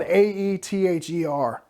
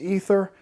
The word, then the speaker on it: aether: her ability up and by the way it's spelled AE th ER I know that's probably normally pronounced ether but the designer pronounces it aether and Aeons in so I'm gonna pronounce an aether because that's what he does so her abilities charged